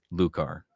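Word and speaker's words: Loucar: I have no idea how to spell that. Uh, L O U R, sorry. L O U C A R. Lucar.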